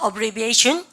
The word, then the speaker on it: abbreviation: 여기 강세 발음을 가져보세요. abbreviation.